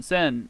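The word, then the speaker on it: 千: taxi de by means of whoa blue senen sen 1,000 should that's 1,000 is pronounced Isen or sen just sen by itself n unit of measurement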